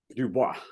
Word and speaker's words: Dubois: Dubois. Well, you got the pronunciation correct.